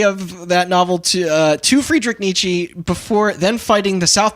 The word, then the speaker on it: Nietzsche: I pronounced Nietzsche right though.